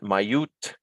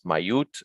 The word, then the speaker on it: mayut: We talk about the plural, and mayut. This is a help, an aid, basically added so that you pronounce this as mayut and not mayu.